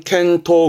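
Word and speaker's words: 見当: 견당이거든요. 그래서 발음은 켄토 그래요. 켄토.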